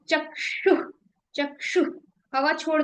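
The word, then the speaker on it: चक्षुः: तो ये इफेक्ट हमें मिलता है चक्षु। जब हम कोई भी विसर्ग का प्रोनाउंसिएशन करते हैं। ये जो डॉट होती है इसको विसर्ग कहते हैं। और इसमें हम बेसिकली हवा को छोड़ रहे होते हैं।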